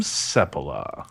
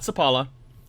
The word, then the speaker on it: Sepola: Sepola. Sepola. Not Sepala.